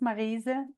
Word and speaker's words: Maryse: So my name is Maryse. It's pronounced as a French name, which it is originally.